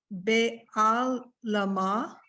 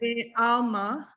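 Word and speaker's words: בְּעָלְמָא: Be'al lama. Why, don't give the lamed its own. Okay. Because the ayin is silent, it's gonna Okay. stay with the lamed. Be'alma.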